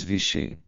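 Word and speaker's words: wichsen: das crianças mais velhas, o termo usado para bater é vixen, pronunciado como o inglês vichem.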